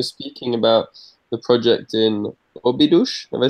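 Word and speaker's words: Óbidos: It's not quite related to the collab process, but when you were speaking about the project in Obidush, have I said it right?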